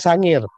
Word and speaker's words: Sangihe: ambil contoh kasus ya di Sangihe atau Pulau Sangihe tapi dibacanya Sangir di Sulawesi Utara tahun